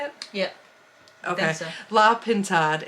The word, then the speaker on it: La Pintade: La Pintade.